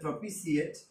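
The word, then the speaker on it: propitiate: প্রপিসিয়েট, উচ্চারণটা হবে প্রপিসিয়েট, মানে হচ্ছে অ্যাপিস, বা আমরা স্যাটিসফাইও বলতে পারি।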